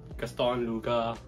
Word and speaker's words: Gaston Luga: So I'm shooting the B-roll for the Gaston Luga. Am I pronouncing it correctly?